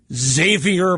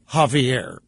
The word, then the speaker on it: Xavier: State attorneys general led by California Democrat Xavier Becerra, or Javier Becerra, take your pronunciation pick, argued that the monthly payments are required under Obamacare and cutting them will harm consumers.